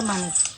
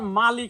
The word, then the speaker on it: মালিক: কে ছিলেন ডক্টর মানিক ডক্টর মানিক ওস্তাদ হ্যা হালকা একটু ভুল আছে ডক্টর মালিক হবে ও মানিক বলতেছে মানে ডক্টর মালিক উচ্চারণে একটু ব্যতিক্রম আছে তারপরে দেওয়া যায়